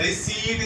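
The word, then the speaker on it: receipt: ریسیپٹ بولا جاتا ہے پیس میں، اس میں حالانکہ پی سائلنٹ ہے، ریسیپٹ اس کی صحیح پروننسیشن. ویجیٹیبل غلط ہے بلکہ ویجیٹیبل اس کی صحیح پروننسیشن ہے.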